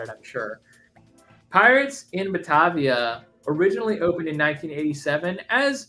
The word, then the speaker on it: Batavia: Wow, it's so I have to make sure that I say it right, because I keep wanting to say Baratier from One Piece, and that's not right. Pirates in Batavia.